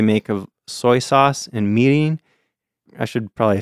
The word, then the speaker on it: mirin: There's a mixture that they make of soy sauce and mirin. I should probably say what that is. I mentioned that before, and I'll say it like an American.